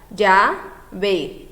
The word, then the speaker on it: llave: Por exemplo, nós temos aí a palavrinha llave, que fica llave. Então, existindo na palavra apenas duas sílabas.